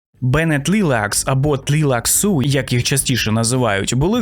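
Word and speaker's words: Tleilaxu: Але частіше за все це звучить саме як «Бене Тлілакс» або «Тлілаксу». — Bene Tleilax... Тобто у слові таке враження, що є аж два наголоси. Але все ж таки приємніше для язика та вуха, українського вуха, коли назва звучить саме як «Тлілаксу́» Ну а зараз саме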